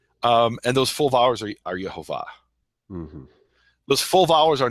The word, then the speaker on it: Yehovah: And those full vowels are Yehovah. Mm-hmm. Those full vowels are never Yahweh. Those full vowels are never Yahuwah. Mm-hmm. He pointed out that there's places where it has the vowels Yehovah because the scribe was indicating to pronounce the